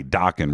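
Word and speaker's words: Dokken: uh wild mick brown the one and only the drummer for docking today docking rhymes with rockin mick brown today is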